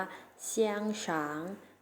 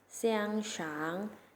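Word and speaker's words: 香肠: ให้ กรอก นะ คะ ใน ภาษา จีน แล้ว จะ ออก เสียง ว่า เชียง ช้าง เสียง ช้าง เสียง ช้าง นัก เรียน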